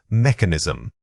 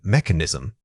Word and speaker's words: mechanism: The word is mechanism. Say it again, mechanism. The initial unstressed syllable is quick and soft, almost blending in.